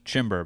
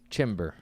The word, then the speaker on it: Chymbor: That was Chymbor, but yeah. Chymbor. The O can be an E. It can be an O. Spelled Chymbor. It's pretty easy, but thanks for having me, Chymbor.